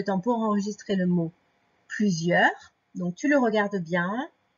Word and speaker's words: plusieurs: Donc, n'oublie pas le début, le P, L, U. Après, le Z qui est fait comme le Z de valise. Plusieurs. Donc, le E de plusieurs qui est fait avec EU, ça je peux te le redire.